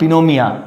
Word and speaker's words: pneumonia: Not pneumonia, that is called pneumonia. So here is P is silent, and spelling is very important of this word, that is pneumonia.